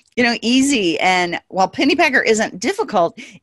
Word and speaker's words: Pennypacker: from my guest today her name is megan pennypacker and megan i just realized i didn't ask